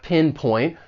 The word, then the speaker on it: pinpoint: For pronunciation, the verb has two syllables. The stress is on that first syllable, pinpoint. And I'd also like to point out that final T, it's really a stop T.